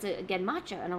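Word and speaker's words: genmaicha: Gimmacha not with the J sound. Gen matcha.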